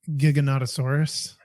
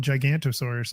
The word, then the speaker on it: Giganotosaurus: Like Giganotosaurus? Yes, like that. I did not know before we did that whole episode way back. I thought it was called Gigantosaurus.